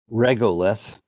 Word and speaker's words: regolith: first introduce two terms the first is regalith or sometimes pronounced regolith and in the book